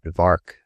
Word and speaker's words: Vark: in the neighborhood that Vark was made to rhyme with shark, as emblematic of the estimation in which he was held.